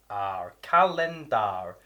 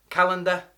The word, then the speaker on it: calendar: Number 9, calendar, C-A-L-E-N-D-A-R, calendar. Often the E and the A are the wrong way round. Calendar is what people say. Calendar, calendar. but it's calendar if you pronounce it properly.